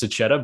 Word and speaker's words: Sachetta: It was one of those, don't say it this way, say it this way. So it's Sachetta, but no hard feelings.